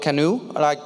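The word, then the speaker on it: CNOE: So I want to introduce you to a project called Canoe, like the boat, you pronounce it, that's how I pronounce it.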